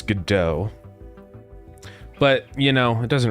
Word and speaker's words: Godot: I don't really care if people say go do or anything, you know? I'm just like, okay, that is that is one of the ways to pronounce it. But I always say GDAU.